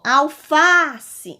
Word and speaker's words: alface: Vamos chamar essa palavra alface. Ao pronunciar a palavra alface, eu tenho uma sílaba mais forte, que é a sílaba fá.